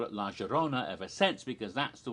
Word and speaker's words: La Llorona: of la rona and she pronounced it okay not ja with a j not y with her but more of a justa so that's why i've always called it la gerona ever since because that's